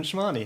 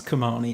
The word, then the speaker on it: Chmarny: And I'd like to introduce guest number 7, Chmarny. Hello. Ah, you said it wrong. Oh, shit. Hold on. Everybody says it wrong. Don't worry. Correct me. It's Chmarny. It's a silent H.